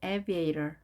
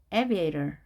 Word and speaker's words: aviator: 물론 aviator이지만 양쪽에 몸이 있게 되면 R 발음이 되죠. aviator, aviator.